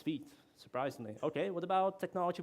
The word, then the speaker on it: Vite: How do you pronounce Vite or Vite? Which is right? It's Vite. I'm sorry. I know. I'm sorry. I know it doesn't really feel like it, but that's what it says in the official docs.